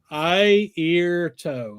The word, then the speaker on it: Airto: Look, they do this Airto. Is that how you pronounce his name? Yeah, eye, ear, toe.